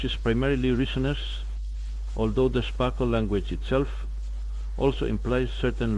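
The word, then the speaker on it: SPARQL: currently has the most powerful tools isod B Sparkle stands out often pronounced as Sparkle in Russian it is a semantic query language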